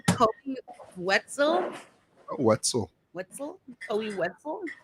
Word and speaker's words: Wetzel: I don't know how to pronounce his name. Kobe Wetzel? Oh, Wetzel.